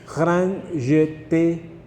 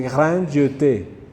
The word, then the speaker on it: Grand Jeté: La primera E se pronuncia E. Así se dice en francés, como dando piquitos siempre. Entonces, pero la segunda E que tienen ahí en el nombre, como tiene tilde, no se ignora y se pronuncia como una E. Entonces, por eso dice Grand Jeté, es el nombre.